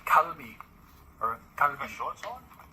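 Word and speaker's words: 갈비: Because it's like technically the first letter is a G, so your inclination is to say galbi. But the G in Korean sometimes sounds like a K, so it's kalbi.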